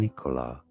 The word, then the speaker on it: Nikola: Nicola Tesla. more of an emphas not a very strong stress on it but it's certainly not on the second syllable not on the co syllable nicola I've heard people say